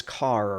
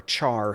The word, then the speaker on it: char: that data type is car or Char however you want to pronounce it so here I'm going